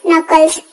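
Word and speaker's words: knuckles: Next word we have अंगुलिया चटकाना, crack कनल, crack नकल्स, इसको यही कहेंगे, नकल्स के साइलेंट है।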